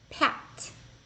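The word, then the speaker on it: пять: of tricky chitiri five Pat Pat kind of like a pat on the back Pat six chest chest chest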